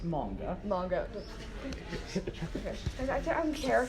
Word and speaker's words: manga: From you, a person who knows about manga and anime, How do you respond? Okay, first of all, it's pronounced manga.